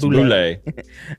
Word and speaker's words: boulette: It's a boulette. Pronounced boulette.